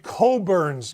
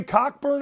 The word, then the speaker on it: Cockburn: me and goes, hey, I know how it's spelled, but it's Coburn. It's Coburn. I go, you think I want to say Cockburn on the air?